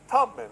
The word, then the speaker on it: Tubman: And they're all referring to this web page alteration uh about Harriet Tubman. And it's Tubman, not Tutman as you pronounce.